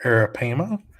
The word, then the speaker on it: arapaima: out there a 10-foot arapaima let me just pronounce this correctly here arapaima washed up on the shore of cape corals